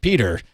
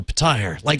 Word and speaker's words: Petyr: 3 audiobooks where the Petyr, somebody represented as Petyr Baelish. Meanwhile, somebody else later on takes over reading the book. He's like, Peter. And I'm like, no, Petyr. I corrected him each time.